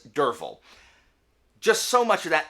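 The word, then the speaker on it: Derfel: name is spelled d-e-r-f-e-l if i had not been listening to it i would have pronounced it durfl it's durval just so much of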